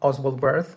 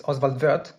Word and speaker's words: Oswald Wirth: Uh I'm going to use the German pronunciation of his name because he was Swiss I believe. Um so I believe it's not Oswald birth as some people say it's Oswaldver.